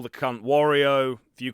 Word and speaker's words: Wario: Well, I grew up calling him Wario. It's got the word war in it.